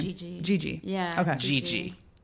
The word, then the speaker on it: Gigi: Gi. Gigi.